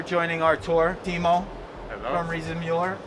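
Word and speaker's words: Riese & Müller: The German way to say it is how? Riese und Müller. Ah, I know I say it wrong, but you guys forgive me, right? It's okay, yeah. But I think when I say German words in English in the US, I think that I should say them with the English pronunciation. Yeah. If you say them with the German pronunciation, it's very strange.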